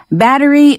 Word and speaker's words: battery: battery 발음 한번 연습해 보겠습니다. battery. bat을 좀 길게 하시면 더 편하게 battery 발음할 수 있다고 생각합니다.